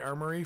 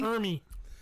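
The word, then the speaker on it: Ermey: And then he goes full on Arlie Armory from Saving Silverman. Snuff the bitch. How do you say it? I never say it right. Arlie Ermy, I think. Ermy? Ermy.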